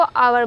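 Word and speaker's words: hour: में एच आता है परंतु बोलते वक्त आच साइलेंट हो जाता है और इस शब्द को आवर बोलते हैं बोलते वक्त पहला शब्द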